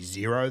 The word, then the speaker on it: Xero: I'm seeing a few companies now use the letter X and say it like Z, Okay. which is another one. I think there's a company Zero that I noticed the other day. It's Xero.